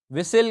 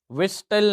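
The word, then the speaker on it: whistle: इन the word विसल तो यहां पर हमारा एच और टी क्योंकि यहां पर हम विसल कहते हैं विस्टल नहीं कहते तो एच और टी हमारा साइलेंट है वहि ऑफ द फॉलोइंग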